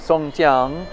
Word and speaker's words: Sun Yat-sen: it says Sun yat-sen this name is actually songs young but it's the way it's written in the West is Sun yat-sen and that's how it's usually pronounced the story I'm sharing